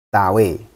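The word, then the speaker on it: 大卫: Tawe. Jadi ini kan huruf DA ya. Bacanya tawe ya.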